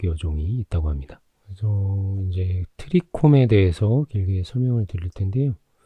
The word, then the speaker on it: 트리콤: 그래서 이제 트리콤에 대해서 길게 설명을 드릴 텐데요. 영어 발음으로 트라이콤 이라고도하고 우리말로는 인편(鱗片)이나 사상체, 모용(毛茸)이라고도 하던데.